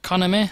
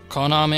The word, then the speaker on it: Konami: Hi guys, and welcome to another one of my role-playing game Let's Plays this time from Konami, or Konami, however you want to pronounce it.